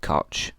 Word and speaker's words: Koch: Louie pastor and Robert cootch we can sometimes pronounce Robert CO cootch as Robert people pronounce it differently and it don't matter either one you can use so these two individuals